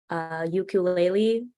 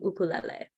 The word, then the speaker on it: ukulele: Another common mispronunciation is ukulele. It's actually ukulele.